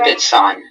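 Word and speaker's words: Lipizzan: Lipitson. Are there Lipitson. Lipitson? Yes. Are there any alternate pronunciations?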